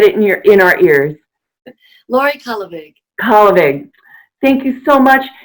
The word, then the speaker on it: Kallevig: And oops, I said it wrong. It's Kallevig. Kallevig? Either one. Yeah, either way is good. Please say your name again so we can get it in our ears. Laurie Kallevig.